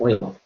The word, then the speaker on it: Euler: to use a site called project rule project oil as corrected this morning uh I'll say yoga the whole time until someone told me that